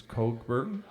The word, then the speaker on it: Cockburn: is by a guy named Bruce curn it's actually cockburn but I'm trying to clean it up it actually is spelled c c KB RN and uh he did